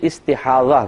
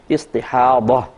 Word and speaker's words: استحاضہ: تو ضا ہے، ضاد جس کو کہتے ہیں ضاد اور ہا، استحاضہ، اور اردو میں استحاضہ کہہ دیتے ہیں زے کے ساتھ، تو یعنی ہے ضاد ہی لیکن اردو میں ہم زے کے ساتھ تلفظ کرتے ہیں استحاضہ۔ استحاضہ کا مطلب ہی